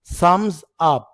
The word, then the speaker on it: thumbs: رفع الإبهام للموافقة يعني المشاورة بصباع الإبهام لتبين الموافقة thumbs up. ما بنطقش حرف البي.